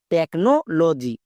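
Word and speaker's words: technology: টেকনো লজি। এখানেও দেখো সিএইচ আছে। সিএইচ এর জন্য অটোমেটিক কো হচ্ছে।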